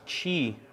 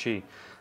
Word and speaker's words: Qi: wireless charger right there I know it's spelled Qi but I believe it's pronounced Chi uh I don't even